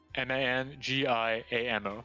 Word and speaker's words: mangiamo: The verb for we eat would be mangiamo, I-A-M-O, M-A-N-G-I-A-M-O, mangiamo.